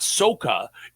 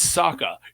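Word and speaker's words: Ahsoka: It's not Soka, it's Saka.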